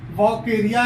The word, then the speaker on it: Vaucheria: family वक areas genus बकेरिया या चेरिया जो भी आप जैसे भी प्रोनाउंस करें दोनों ठीक है स्पेश बहुत सारे हैं